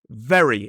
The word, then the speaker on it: very: But we have berry and very again the difference is for the B sound we must close our lips like this bb and the vv sound the teeth are involved like we explained before.